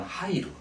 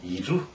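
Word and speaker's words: 入る: 이럴 때는 이루라고도 있거든요. 이루, 들다. 예를 들어서 마음에 들다 하면 기니이루 이렇게 됩니다. 그건 관용어구로 정해져 있으니까 너무 이루라고 읽는 거에 대해서는 너무 신경을 쓰지 않았으면 좋겠어요. 그래서 이렇게 입자 쓰고 루 하면 하이루 이렇게 무조건 그렇게 읽어 놓는 게 좋습니다.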